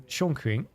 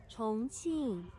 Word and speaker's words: 重庆: The X, which isn't even an X in here, but like the way they pronounce that specific thing is really difficult. 重庆 It's like a S tone, but it's also like a little bit softer. It's like in between a sharp S and like a soft S.